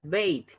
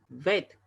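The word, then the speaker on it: בית: Ahí no se pronuncia veit, ojo con eso, se pronuncia vet.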